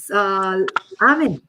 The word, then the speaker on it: Amen: Amin, I'm pronouncing it like the Spanish accent. Amen.